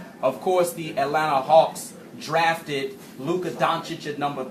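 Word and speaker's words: Luka Dončić: Because on the last show, I wasn't too high on Luka Doncic, so I'm not down on the Atlanta Hawks organization for what they did the way many people are.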